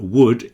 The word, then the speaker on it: would: Obviously would, could, and should all have silent L's. So that would is exactly the same as wood that comes from trees.